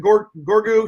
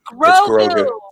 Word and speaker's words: Grogu: That's For the record, for the record, Baby Yoda, Gorgu, he was the number 1 on the list. Grogu. It's Grogu.